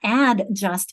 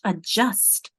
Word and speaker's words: adjust: How quickly I'm saying that it feels like it's not ad just it's a just my accent is there on that second syllable.